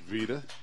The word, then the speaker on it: Vita: old baseball pitcher it's spelled like vitamin vitamin but it is pronounced Vita all right now Claremont's